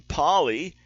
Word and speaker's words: poly: so outmoded and B poly which rhymes with jolly instead years from my